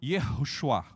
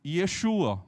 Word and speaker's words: Yehoshua: judeu não vai falar Yeshua. Ele vai falar Yehoshua.